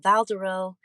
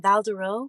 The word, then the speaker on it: Val Douroux: out of the way i'm valdero with the silent x and sometimes that x